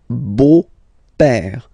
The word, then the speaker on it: beau-père: So, père, okay, father, so father-in-law, okay, in French it's le beau-père, the beautiful father, le beau-père. So remember this E-A-U combination of vowels only give you the sound O, beau, okay, le beau-père.